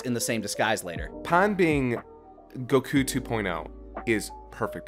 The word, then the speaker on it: Pan: audience by me saying pan Which I say because it's based off of the Japanese word for bread pun that's that's like that's why I specifically say it like that not pan speaking of why things